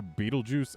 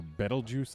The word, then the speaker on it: Betelgeuse: that the name of the star beetlejuice ends with or betelgeuse depending on how you want to pronounce that but yeah this seems